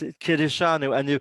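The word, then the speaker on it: קִדְּשָׁנוּ: It is a K sound, another K sound, and yes, Kiddushanu, and you pronounce the schwa because there's a dagation there, and you have the accent on shanu.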